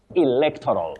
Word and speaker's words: electoral: should avoid saying electoral the stress is on the Second syllable electoral.